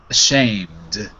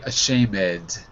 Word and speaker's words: ashamed: ashok a clear the the mistake would be people might say a shame head right so there's no second syllable on the end of the shamed okay next word is